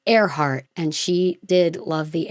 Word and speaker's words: Earhart: It's spelled like earhart, but it's airhe heart.